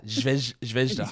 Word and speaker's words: Zvezda: And I mispronounced the name of that team the other day, and I'm not going to... Zvezda.